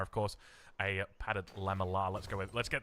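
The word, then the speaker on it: lamellar: Padded laminar, of course, a padded lamelar. Let's go with Let's get the pronunciation right.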